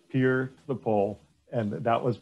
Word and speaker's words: Pierre: live in south dakota that you pronounce peer right it is not pierre we say peer the poll and that